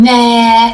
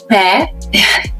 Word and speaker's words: Meghan: People were saying meh. It's not meh. It's pronounced me. The H is silent.